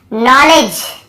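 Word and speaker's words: knowledge: नॉलेज, यहाँ पर भी देखिए नॉलेज, यहाँ पर भी डी साइलेंट है, नॉलेज नहीं है, नॉलेज, डी भी साइलेंट है, यहाँ पे के भी साइलेंट है।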